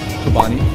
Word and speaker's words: Chobani: Chobani. Chobani's my favorite. Because it rhymes with umami.